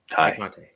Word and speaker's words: Tay Conti: Obviously, have we confirmed that it is pronounced Ty Conte or Tay Conti? It's Ty. Ty Conte.